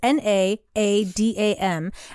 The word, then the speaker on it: Naadam: I had heard about called, I guess it's pronounced NAADAM. It's NAADAM.